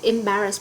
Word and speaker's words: embarrass: For example, her questions about my private life embarrass me. Từ thứ hai cô có là từ embarrass. Embarrass sẽ nhấn ở âm tiết thứ hai.